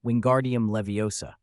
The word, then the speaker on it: Wingardium Leviosa: Pronounce the incantation correctly. Wingardium leviosa.